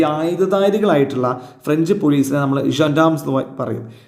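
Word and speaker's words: gendarmes: സംസാരിച്ചുദവഫഷദർ കോഫിവദചീഫ് ഓഫ് ദ ഇവിടെ നോക്ക് ജൻാംസ് അല്ലട്ടോ ജോാംസ് എന്നാ വായിക്കുക ഫ്രഞ്ച് വേഡ ജോാംസ് അപ്പർ അവരിങ്ങനെ കോഫി ഇങ്ങനെ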